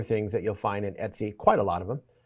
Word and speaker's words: etc: So uh if you're from the Windows world, you might be tempted to pronounce that as etc. But that's not what it actually is. It's Etsy.